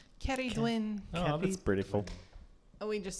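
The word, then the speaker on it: Ceridwen: That's how they say her name in Welsh. Cerridwen. Oh, that's beautiful. We just say Cerridwen.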